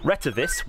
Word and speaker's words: Retevis: Retevis, which I've now found out is the correct way of pronouncing it, opens up with this lovely bright screen, and the machine is very, very configurable.